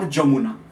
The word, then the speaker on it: Jamuna: For example, the name of river is Yamuna or Jamuna, but both are pronounced.